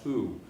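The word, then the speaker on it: Houx: The Hooks Gang, H-O-U-X. It's actually French, is pronounced who.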